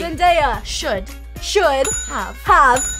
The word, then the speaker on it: Zendaya: Zendaya. Saturday. No. Zen. Zal. Zen. Zanda. I'm so confused. Zen. Zen. Zen. Day. Daya. Exactly. Zendaya.